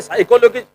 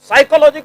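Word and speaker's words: psychology: वैसे सुनी जाती है ये अंग्रेजी वाले साइकोलॉजी साइकोलॉजी की स्पेलिंग पी से शुरू होती है क्यों भाई क्यों जब पी बोलना ही नहीं है तो फसाया क्यों है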